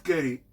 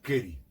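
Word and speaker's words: קרי: hem behamat keri.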